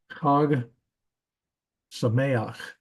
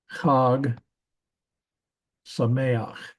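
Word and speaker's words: חג שמח: but the greeting is Chag Sameach. Chag Sameach. Notice that the patak here is a furtive patak.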